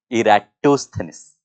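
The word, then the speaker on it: Eratosthenes: इसका प्रोनाउंसिएशन क्या होगा? Eras era इराटोथेनिस, इराटोस्थेनिस।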